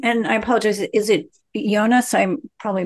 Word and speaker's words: Ioanes: and I apologize, is it Jonas? I'm probably mispronouncing your name. Can you correctly pronounce your last name and tell us your affiliation? Yeah, it's Ionis, but I'll kind of take anything.